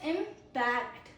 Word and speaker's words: impact: Then pronunciation 2 is impact. Impact. Impact. It is a verb because of the second syllable, stress.